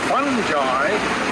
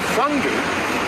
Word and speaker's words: fungi: with what happens when some pathogenic fungi, to pronounce it the American way, or fungi, invade the tree.